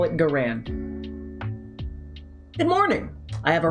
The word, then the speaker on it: Garand: Now, his name is pronounced Garand.